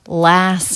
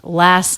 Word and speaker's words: last: most stress even so even though last is one of the stressed words it does have a dropped sound there is no t the reason is because it's part of an ending st cluster the next word begins with a consonant the t between two consonants like this even when they're in two different words is often dropped last night it's just the s sound into the n sound last night and then